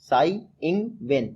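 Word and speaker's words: Tsai Ing-wen: तो प्रेसिडेंट लगातार दूसरी बार बनी है साई इंग वेन। कौन? साई इंग वेन, जब साई मैं बोलता हूँ तो टी से स्पेलिंग शुरू होती है, आप याद रखिएगा।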